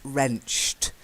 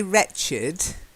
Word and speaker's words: wrenched: in the IDI ending the first word is wrenched although we say wretched wretched and I think that's what you thought it was at first wretched but its wrenched to wrench she wrenched